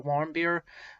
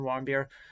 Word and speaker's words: Warmbier: dead the deceased american otto warmbier i believe that's how you pronounce his last name wrong beer otto and he was captured